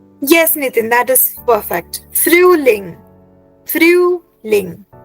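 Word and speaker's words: Frühling: Nitin that is perfect फ्रूलिंग फ्रूलिंग you have to first right फ्रू then लिंग फ्रूलिंग right फ्रूलिंग alright then next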